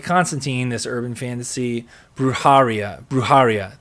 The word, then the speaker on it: Brujeria: Now, it was made into a TV show, much like Constantine, this urban fantasy, Brujeria. Thank you, Brujeria. Thank you, Lou Dude. I knew I was saying it wrong. Brujeria.